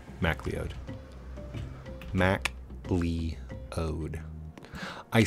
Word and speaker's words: MacLeod: it's the music it's Kevin's music Kevin mleo McLoud MacLeod Mac leod I say it phonetically so I remember how to spell it